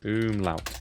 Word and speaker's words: Umlaut: Umlaut.